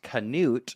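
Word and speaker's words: Cnut: His father's name is pronounced Canute, but it's spelled like C N U T and I love to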